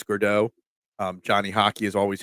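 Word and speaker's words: Gaudreau: I believe it's Gurdeau.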